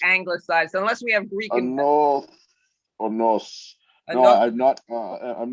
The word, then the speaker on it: Anodunos: Anodunos. Am I pronouncing it right? Anodunos? Well, the actual Greek, they put a TH in there, Anodunos, but what we're keeping is Anodunos.